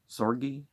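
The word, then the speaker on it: Zorge: mean 194 thousand descending call it zorgi of one syllable zorg sorry you know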